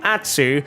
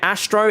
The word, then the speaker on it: Atsu: As someone who has had the name Atsu and still to this day gets the name Atsu absolutely butchered. I get Astro is the most egregious one. That's the most annoying one when people say Astro.